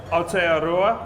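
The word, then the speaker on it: Aotearoa: out here from just correct me on my pronunciation ARA is that correct that was perfect the land of the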